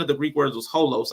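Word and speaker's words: ὅλος: I know one of the Greek words was holos like h o l oos the way we would say it but the Greek letters I don't know the Greek words but I know it's pronounced holos I did the whole you know strongs concordance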